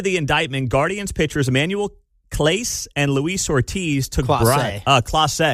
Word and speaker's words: Clase: So Clase is how you say his name?